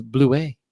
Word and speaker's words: Blewett: screen by the way blewett's is blue way it's French I saw that format